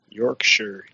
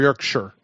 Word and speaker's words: Yorkshire: the UK Yorkshire specifically Yorkshire Shire did I pronounce it yeah Andy Hadees is it York Shire or Yorkshire I think I think they say Yorkshire yeah and we say York Shire you know that